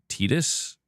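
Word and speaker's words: Tidus: username and I've been I've still been saying Titus this whole time. You're telling me it's Tetus? That's how you say it.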